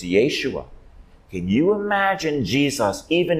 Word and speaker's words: Yeshua: and the perfect son she would say his name in Aramaic his name is Yeshua not Jesus it's Yeshua can you imagine Jesus